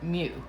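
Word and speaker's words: μ: a lowercase greek m you pronounce it mu it means 1 times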